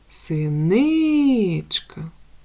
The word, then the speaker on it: синичка: приголосний твердий а голосний визначити наголошений склад синичка наголошений другий склад наступна пташечка у